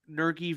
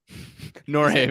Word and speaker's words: Norge: So so your next one was Colson Montgomery, Garrett Crochet, Brian Ramos, and Nergy Vera. Norge Vera.